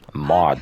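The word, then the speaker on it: Maude: You know, Mod, that's what it's pronounced.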